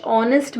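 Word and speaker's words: honest: ಮೇಲೆ ಗಮನ ಕೊಡಿ okay he ಇಸ್ ಡಯಾಶ್ ಆನೆಸ್ಟ್ ಮ್ಯಾನ್ ಅಂತಂದ್ರೆ ಹಿ ಇಸ್ ಆನ್ ಆನೆಸ್ಟ್ man because ಅಲ್ಲಿ hಚ್ ಏನಾಗಿದೆ hಚ್ ಇಸ್ ಸೈಲೆಂಟ್ ಎಚ್ ದು ಸೌಂಡ್ ಬರೋದಿಲ್ಲ ಇಟ್ ಇಸ್ ಸೌಂಡ್ ಇಟ್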